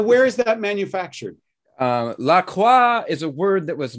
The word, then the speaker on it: La Croix: cross okay so yeah if they're gonna use a french word they're gonna they should pronounce it in a french manner seriously this is where